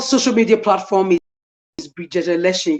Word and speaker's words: Elesin: Okay, I'm on, will I say all social media platform is Bridget Elesin. You can see it's pronounced with H. The Elesin is pronounced with H, but it doesn't have H.